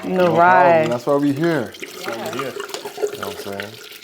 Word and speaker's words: Nyarai: I've been pronouncing it wrong this whole time, so I'm glad you said it. Yeah, Narai. Narai.